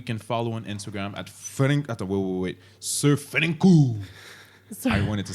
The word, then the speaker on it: SirFranku: boy, that we can follow on Instagram at SirFranku.